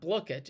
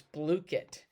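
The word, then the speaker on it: Blooket: It's not Blukit. It's Blukit.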